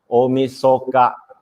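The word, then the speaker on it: 大晦日: all right and then in new year's eve is pronounced as omisoka right so omisoka is new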